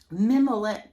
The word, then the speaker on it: mimolette: Mimolette cheese. I found out the pronunciation is mimolette, and yes, it is French.